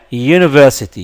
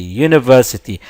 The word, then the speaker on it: university: previous example this letter the same letter is pronounced yeah University University and the year is not a vowel sound